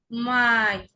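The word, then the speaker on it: Mai: মাই। এআই, এআই এর উচ্চারণ কি হয়ে গেছে?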